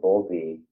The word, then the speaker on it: Bowlby: But Bowlby that's how you say his name, right?